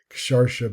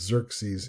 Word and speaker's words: Xerxes: So Sharsha becomes Xerxes in Greek and Hashweras in Hebrew.